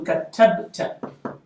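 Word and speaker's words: كتبتَ: So if I want to say you wrote, a male, it changes to katabta. Katabta. I silent the banner. Put it out. Katabta. Katabta. The ba is silent.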